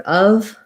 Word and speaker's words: of: just for your word of make sure you're using a schwa and a v sound so of not